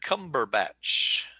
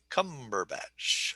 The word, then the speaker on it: Cumberbatch: the first syllable okay and cumberbatch three three syllables emphasis on okay so it's a three one word cumberbatch okay we're gonna see